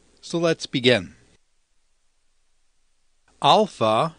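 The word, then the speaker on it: α: right so let's begin alpha sounds like the a and father beta sounds like the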